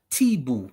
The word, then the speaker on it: Tubu: The t the tubu as it's spelled, Tibu is how it's pronounced, inhabited this locality.